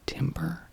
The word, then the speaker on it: timbre: I hope that the timbre of my voice, or the timbre, I believe it is timbre, even though it's spelled like timber.